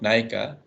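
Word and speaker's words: ନାୟିକା: question is the word which you discussed is pronounced in uriah as naika which means heroin so it may be pleasant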